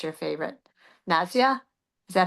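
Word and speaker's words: nasya: Nausea? Is that how you pronounce it? Nausea.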